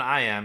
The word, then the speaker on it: iamb: poetry so I know an I am is a two-syllable thing with an emphasis on the second syllable we say Shakespeare wrote